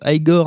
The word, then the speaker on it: Igor: par son assistant évidemment bossu Igor, qui se prononce Igor, incarné par l'inoubliable Marty Feldman, et par la